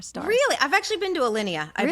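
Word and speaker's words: Alinea: Yeah, I've been to Alineia. I have mispronounced that restaurant name for years and years and years until somebody corrected me. What' you call it before? Alana.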